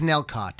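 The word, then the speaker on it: Nellcôte: to work on the album richard's basement it's nelcott it's pronounced no it's just not caught that's what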